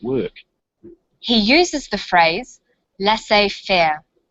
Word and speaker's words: laissez-faire: he uses the phrase laissez-faire laissez-faire is a borrowing from French it closely reflects the pronunciation of the original language and the original spelling do you know the